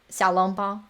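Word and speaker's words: xiaolongbao: how I've been pronouncing it. Yeah. Sorry. Okay. Okay. Okay. Okay. Wait, wait. How do you laugh? Xiaolong Bao.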